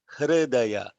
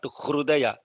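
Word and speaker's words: हृदय: R, like Hridaya, not Hrudaya. Lot of people, I'm mentioning this because a lot of people mispronounce R, and because it's a vowel, there is a gap here.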